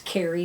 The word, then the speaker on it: Kaery: the best way so it's carry my name is spelled strangely but it's ka ery and it's consumed your